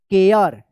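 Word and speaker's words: care: ये लास्ट वाला इ जो है ना साइलेंट रहता है। सी ए आर ई। इसको क्या पढ़ेंगे? केयर।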